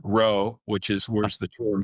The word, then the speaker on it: rho: fancy term, Greek letter rho, which is where the term comes from. Looks like a lowercase p, but they pronounce it RHO, right?